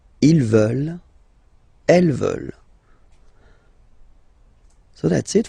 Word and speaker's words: veulent: And the last one, here, EU, and then E-N-T, classic ending, but then you don't pronounce it, so you get veulent, veulent.